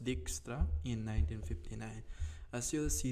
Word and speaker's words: Dijkstra: Numerous algorithms can solve the shortest path problem, and one of the most famous one discovered by Edge Dijkstra, pronounced Dijkstra, in 1959.